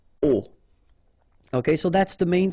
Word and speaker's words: aux: And then a plus les will become o, a-u-x, but then remember that phonetically it's o.